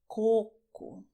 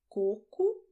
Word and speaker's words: coco: "Coconut" in Brazilian you say "CÔCO". And people also also ask how to say "poo". "Poo" is "COCÔ". Pay attention: "CÔCO", "COCÔ". Two different words: same letters, but well the sound is different.